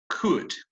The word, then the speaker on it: could: the model it could remember that the pronunciation of this is not cool or cold or something like that the pronunciation is could ask if you would